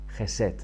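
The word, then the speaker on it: חסד: Algunas veces la palabra hebrea se traduce de la Septuaginta por la palabra griega eleo, y esa palabra es Gesed. Se escribe H-E-S-E-D, Gesed.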